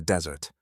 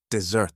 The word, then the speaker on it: desert: And I hope that you could hear that when I said the word desert, the stress was on the first syllable. Now the next word is to abandon or leave someone or something. Do you know the word for that? If you abandon someone then you desert them. This time the stress is on the second syllable.